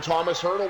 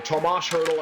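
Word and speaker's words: Tomáš Hertl: Golden Knights recollect it, and Thomas Hertl will send it right back in. Or Tomas Hertl, I should say. I got to keep with the Czech pronunciation.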